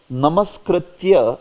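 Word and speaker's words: नमस्कृत्य: So there, namaskritya is pronounced as namaskrityam. Many of them pronounce it as namaskrityam. It is namaskritya actually, it is not namaskrityam.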